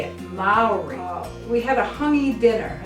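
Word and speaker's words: Māori: are Maori and that's how you say it Maori we had a honey dinner and that's how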